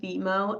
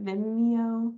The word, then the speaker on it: Vimeo: Um Vimo. I don't think I say it right. Vimeo. Oh, Vimeo. Vimeo.